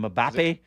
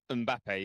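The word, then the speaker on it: Mbappé: the soccer player's name Killian mappe mbappe yes and he walked up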